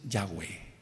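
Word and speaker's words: Yahweh: te tambal en que su nombre es yahwe no hay otra forma de pronunciarlo no se trata aquí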